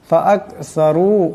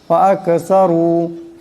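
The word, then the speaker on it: فَأَكْثَرُوا: ফাআকসারু এখানে সা আছে, সার আওয়াজটাকে নরম করে পড়তে হবে।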